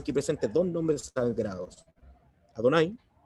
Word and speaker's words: Adonai: con el nombre superior, Yud Ke Vav Ke, que es el que pronunciamos como Adonai.